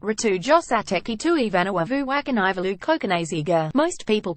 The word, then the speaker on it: Cokanasiga: My surname is pronounced Cokanasiga. He explains the C becomes a TH in Fijian.